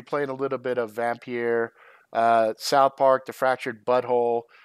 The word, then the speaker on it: Vampyr: how you say it it's VA MP Y R so I think with the Y on there instead of IR e instead of vampire it's vampyre if I'm not mistaken I could be wrong